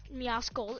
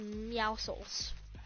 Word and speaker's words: Meowscles: Meowscles, it's actually Meowscles, because the C is silent, you nerds! It's Meowscles, not Meowscles, or Meowscles.